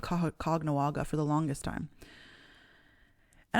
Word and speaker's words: Kahnawá:ke: like how you would spell it appropriately and pronounce it, it's Kahnawá.